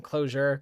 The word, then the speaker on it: Clojure: the name comes from closure closure uh you know pronouncing it I suppose with a hard uh J there uh but kind